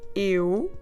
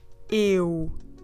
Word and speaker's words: eu: It's a diphthong, so it's two vowels in the same syllable. Eu. You start with your mouth open, of course, but at the end, you will put your lips round and forward.